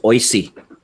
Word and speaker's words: OISE: which is commonly referred to by its acronym pronounced oise and the premier of ontario before the recent